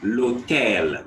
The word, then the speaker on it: l'hôtel: L'hôtel. The H is silent.